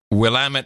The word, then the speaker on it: Willamette: I just always order wine from the Willamette Valley because that's how you pronounce it.